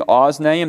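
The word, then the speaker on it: אָזְנַיִם: ozen ear oznaim duel notice i'm saying oznaim that is a comet tattoof not a comets it's in the closed first syllable and it's it's just the reduced column so it's ozen oznaim uh comets are two for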